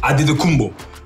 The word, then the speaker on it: Antetokounmpo: So it's pronounced Antetokounmpo in the Greek way.